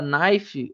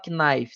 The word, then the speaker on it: knife: Tanto que vocês podem ver que na palavra knife, o K você não pronuncia, você não fala knife, você fala knife, como se nem existisse aquele K.